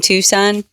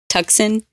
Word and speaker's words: Tucson: my new job in tucson and i keep wanting to say tuxen tuxen oh yeah with how it's spelled yeah yeah like true